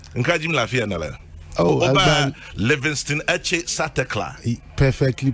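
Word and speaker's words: Livingstone Etse Satekla: Oh, Oba Livingston Eche Satekla. Perfectly pronounced.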